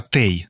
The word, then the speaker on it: тей: Далі, деякі займенники – от кілька разів казали у своїх спогадах співрозмовниці не той, а тей. Так? Правильно? Да, да. Саме тей, треба так казати.